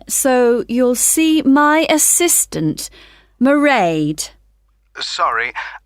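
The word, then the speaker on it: Mairead: do you spell that it's m a i r e a d marade okay got that it's not a name i'm familiar with oh it's an irish name she comes from dublin right and the road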